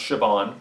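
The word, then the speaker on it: Siobhan: y it's it's pronounced sioban that's weird song's completely different it's a yeah it's a Irish thing well first of all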